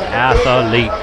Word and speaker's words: athlete: Yeah, he's an athlete. He's such a good athlete, you put an extra A in that. Athlete. You get an extra syllable.